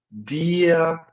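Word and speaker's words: dir: O R em alemão, ele é sempre largado, tá? Então, sempre que ele vier no final das palavras, no final das sílabas, eu sempre vou soltar ele. Ele vai ficar aqui como se fosse um A.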